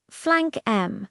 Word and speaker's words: flank 'em: Pronounce it like this: flank M, like the word them, but without the sound.